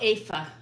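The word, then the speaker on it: Aoife: say that name oh aa her name is AA it's in gaic so it's spelled uh a o i f e and I actually have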